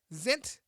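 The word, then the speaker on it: Zients: white house coronavirus coordinator high pronounced guy zint has led the white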